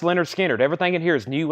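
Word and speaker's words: Lynyrd Skynyrd: that we have Leonard skinnard their debut album pronounced Leonard skinnard everything in here is new and sealed Freebird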